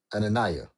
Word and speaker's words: Ananiah: Uh Ananiah might be saying that wrong. You actually said it right.